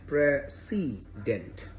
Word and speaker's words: precedent: difference between the words prayer Z dent and pre C dent uh but of course a variety of examples